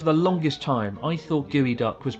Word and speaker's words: geoduck: eat it yeah oh no no it's called gooey duck gooey duck uh and if you learn just